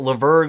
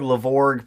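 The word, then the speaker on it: Levorg: you get the laverg some people laverg lavorg people call it multiple pronunciations of it but where do you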